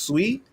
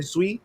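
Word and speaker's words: Sui: have to think about it saw soie is pronounced sweet sweet we saying sweet sweet I say sweet I don't know man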